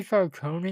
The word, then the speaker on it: Falcone: Then we met Sophia, and goddamn, that Sophia Yeah, is Sofia just Falcone to clarify people, or I guess they say Falcone in this universe. whatever. DC really needs to clarify how that last name is pronounced.